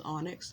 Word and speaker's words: Onyx: this clearer than any how you say my name is onyx it's not anything else it's just it's just onyx but um in any